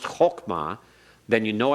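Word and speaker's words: חכמה: Because you know it's spelled hok or pronounced hokmah, then you know it's a comets hatuf, which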